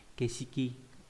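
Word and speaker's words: 景色: Và đặc biệt trong từ cảnh sắc, nó không đọc dưới dạng là có trường âm mà chỉ đọc không trường âm là Keshiki, nghĩa là phong cảnh.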